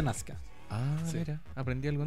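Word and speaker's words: Nausicaä: Pero como que la vocal del medio se silencia.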